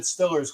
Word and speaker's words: Steelers: And I said Stillers because that's correct on how you pronounce that.